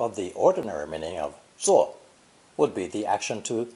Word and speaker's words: 坐: It's pronounced fourth tone, 坐,坐.